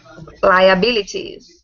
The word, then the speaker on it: liabilities: I prefer to say T sound. Liabilities.